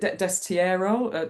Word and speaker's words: destierro: don't want to say the word because I'll mispronounce it, but the um is it destierro?